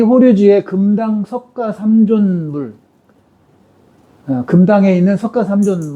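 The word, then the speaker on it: 法隆寺: 그거는 이제 실체가 알고 있는 거하고 다른 거니까 나중에 얘기하기로 하고 이거를 호류지라고 발음해요. 호류지.이 이 호류지의 금당 석가삼존물 금당에 있는 석가삼존 물상과 일본의 불쌍받침에 전송되어서 어 당시 백제 불교 문수리 이상을 알 수 있다.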